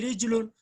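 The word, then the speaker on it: رَجُلٌ: रिजलुन और रजुलन की जो स्पेलिंग है वो तो सेम है, प्रोनाउंसिएशन डिफरेंट है। रा जीम लाम, रजुलुन मीन्स आदमी, लेकिन रिच लुन मीन्स पैर, पाँव।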